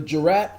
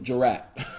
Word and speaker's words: jurat: Sounding like jury. Jurat.